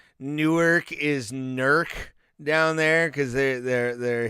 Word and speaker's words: Newark: like uh Upper Sandusky is how they spell pronounce Upper Sandusky and also like Newark is nerc down there because they're they're Hillbillies uh I